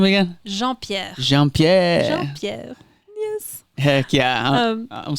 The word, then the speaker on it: Jean-Pierre: Jean-Pierre.